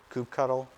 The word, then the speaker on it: kubectl: uses something called kubectl coupe ctl some people pronounce it coop cuddle i i just pronounce